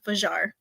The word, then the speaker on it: Fajr: spell her name wrong it's not fair it's vajar um I came across